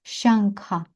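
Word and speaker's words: शङ्ख: нас іде слово шанкха шанкха і воно починається на звук ша шаа оце якраз перша ща перший шипляч санскриту так ща потім ша і потім звичайно са ща ща - це в нас палатальний ряд Отже там у нас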